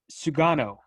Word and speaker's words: Sugano: Tomoyuki Yuki Sugano is the name that Yeah, you everybody's nailed it.